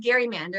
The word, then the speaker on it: gerrymander: was a massachusetts senator his name was elbridge gary so it could be pronounced gary mander and they do that in massachusetts who drew this little